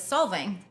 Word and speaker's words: Solvang: back down um and one of them was solving right is that how you say it yeah